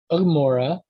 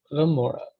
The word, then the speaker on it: Gomorrah: and so it becomes, instead of Ugmora, it becomes Gomorrah. With it starts with a consonant, and the same with